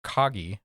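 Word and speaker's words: Kagi: go isn't cutting it for you um there's one that I've played around with called uh kogi I think is how you pronounce it k a gii um they are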